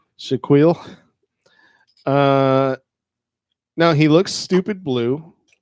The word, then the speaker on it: Shaquille: Yeah, It's pronounced Shaquille. Shaquille.